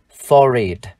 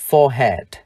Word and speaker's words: forehead: Và từ ghép được, chúng ta được một danh từ for it. For it. For it. Chán. Từ này chúng ta cũng có thể đọc là forehead.